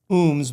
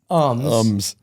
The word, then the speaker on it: Umbs: And so I have the pleasure of introducing my good friend and GM of Superstition Harley, Justin, not Umbs, but Umbs.